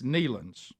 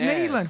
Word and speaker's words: Neelands: The group is use a long E. It's Neelands with a long E. I trust her. She said Neelands. Okay, I'm just saying the spelling of it. Oh, I thought you knew. It's Neelands.